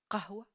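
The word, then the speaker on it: قهوة: Donc, c'est un K prononcé plus bas dans la gorge. Qa, qa, qa. Exemple, qahwa, qahwa pour café et qalb pour cœur.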